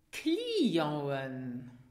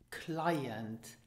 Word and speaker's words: Client: Clienten. Now this is the plural of client, client. So the C is pronounced K and the final T is silent.